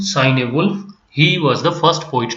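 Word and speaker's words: Cynewulf: a wolf and sign you can take the word uh for almost the same meaning or pronunciation sign a wolf he was the first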